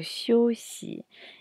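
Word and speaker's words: 休息: la d2 caractère qui sont affichés qui se prononce chossy et qui signifie se reposer on a à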